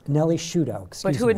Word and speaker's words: Sciutto: she's a TV host and an actress, Nellie Sciutto. Did I pronounce that correct? It's actually Sciutto, like prosciutto. Sciutto. Nellie Sciutto, excuse me.